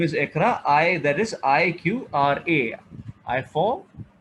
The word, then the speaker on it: Iqra: My name is Ikra, which is spelled SIQRA. I for, Q for, R for, and A for.